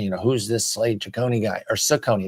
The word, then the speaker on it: Cecconi: And Cecconi, you know, who's this Slade Cecconi guy or Cecconi? Excuse me, I've been saying it wrong. Cecconi. Oh, is it Cecconi? Cecconi. I'm looking on BREF right now. Cecconi. I thought it was Cecconi.